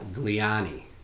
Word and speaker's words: Gliane: pronouncing my last name they think italian and they get it okay that makes sense